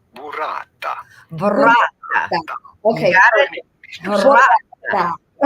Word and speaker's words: burrata: We are looking at how to pronounce burrata. Burrata. Okay. Burrata. Say that. Boy, that's a bunch of R's you got to roll.